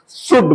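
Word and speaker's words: should: आपको शुड बोलना है एल साइलेंट होता है एस एच ओ यू एल डी होता है लेकिन आपको शुड बोलना है शुड विल बी एबल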